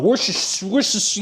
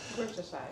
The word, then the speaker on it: Worcestershire: Worcestershire, yeah.